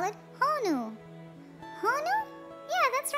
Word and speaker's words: honu: Well, we have a sea turtle and we call it honu.